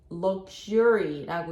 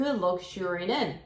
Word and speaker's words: luxury: 그리고 단어 중에 luxury라고 있죠? 그 luxury는 Z로 발음이 될 수도 있고 S로 발음이 될 수도 있어요.